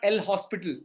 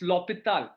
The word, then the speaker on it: L'Hôpital: It's not El Hospital. It's L'Hôpital. Yeah, it's French. It's French.